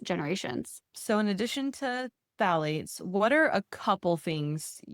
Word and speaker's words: phthalate: And then if it's a healthy version of a scent, it will say phthalate free. That's spelled weird. It's PTH.